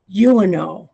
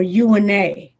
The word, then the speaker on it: Eunoe: takes him to the, I think it's pronounced Uno or UNA, and it's spelled EUNOE with, and it looks like an umlaut over the E.